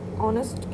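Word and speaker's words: honest: तो यहाँ हम देखेंगे जो एच का साउंड है वो साइलेंट है इसलिए हमने उसको सिंबल्स में नहीं लिखा है.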